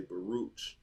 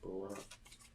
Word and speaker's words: Baruch: It looked like it say Baruch, but it's pronounced Barak.